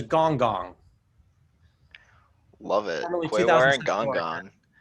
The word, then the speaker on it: Quaoar: Reeve, have you Kirby, heard of Kirby, how do you pronounce Quayar? Quaoar, yeah. Quaoar, that's it.